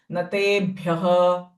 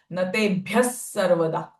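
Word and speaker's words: नतेभ्यः सर्वदा: So it will be wrong to say Natebhyah. Ideally or appropriate way to chant is Natebhyas sarvada. Sa sound of visarga.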